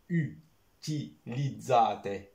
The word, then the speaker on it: utilizzate: بالطاليانية هي U utilizzate، شو النطق ديالها؟ utilizzate. ترى عندنا مشكل ديال النطق ديال هاد الحروف ديال U I، هادي utilizzate sempre internet per capire meglio ancora.